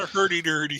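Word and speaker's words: hurdy-gurdy: to the to the instrument which is a herie gertie. Don't know if that's how you pronounce it. Hery. Oh, that's awesome. Gertie. It's correct. It's a hurty dirty.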